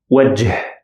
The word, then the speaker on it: وجه: وجه, وجه. I pronounce it as ه or H sound in English.